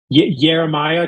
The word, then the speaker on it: Jeremiah: Like I'm sometimes like Jeremiah, because the J actually doesn't exist in the Italian alphabet, which is something I learned a while ago.